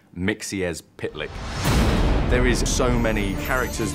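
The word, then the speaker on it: Mxyzptlk: it it's one of those tricky ones it's pronounced mixier's pitlick there is so many characters that we've just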